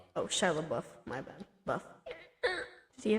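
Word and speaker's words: LaBeouf: Audio commentary with director DJ Carus Shilabo. How do you say it again? Shabbuff. Oh, Shilab Buff.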